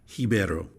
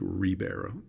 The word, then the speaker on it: Ribeiro: So it's the Xander end of the name that's pronounced in Brazilian Portuguese. Ribeiro, spelled with an R, like Ribeiro.